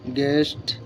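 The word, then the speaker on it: guest: match silence you জি ইউ ই এস টি গেস্ট জি ইউ ই এস এস গেস silence ডাব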